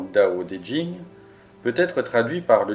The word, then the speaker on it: Tao Te Ching: Le Tao Te Ching, prononcé approximativement Dao De Jing, peut être traduit par